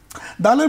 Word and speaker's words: দাল: দালের মৌলিক উচ্চারণ টেনে পড়তে হবে।